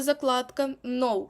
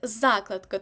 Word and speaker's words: закладка: складі так загадка закладка я знаю ви любите говорити закладка ми будемо говорити закладка так буде правильно закрутка запонка заставка а